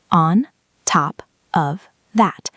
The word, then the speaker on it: on top of that: Pronunciation on top of that. But we link it on top of that. Often the of becomes just awah sound.